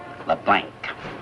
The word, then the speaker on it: LeBlanc: That's a capital L, small e, capital B, small L, A-N, and a hard C. LeBlanc.